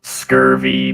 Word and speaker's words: SCRV: the and the screen it is pronounced scurvy meat bags hello scary